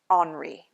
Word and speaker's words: Henri: It's spelled Robert Henry, but it's pronounced in French Henri.